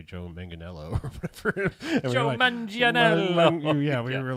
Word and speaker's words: Manganiello: Hyundai isn't it like isn't it actually manganello I think it's manganel yeah I think it's